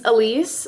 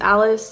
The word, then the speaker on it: Alise: start hi my name's Alise spelled like Alice pronounced Alise in espanol it is Alise I know in English it's Alice I was born in